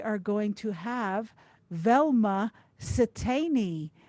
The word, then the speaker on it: Satani: going to have velma satani i'll spell that for you s for sam i t for tom e i and for nancy e so satani she is a samoan